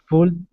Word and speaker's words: pulled: It looks like it's two syllables. Pulled, but no, it's pulled.